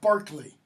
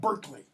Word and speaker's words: Barclay: It's pronounced Barclay, not Berkeley, okay, in English.